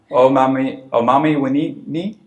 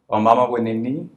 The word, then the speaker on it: Omama Winini: Omami Winini? Close. Can you give it to me? Omama Winini.